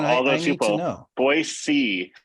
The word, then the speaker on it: Boise: Boise. So you got to say it like see, like you see something. Boise. That's how you would say it.